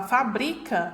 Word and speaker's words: fabrica: E aqui, já na palavra fabrica, né? Eu tenho aqui minha sílaba tônica na penúltima posição, conhecida, classificada como paroxítona.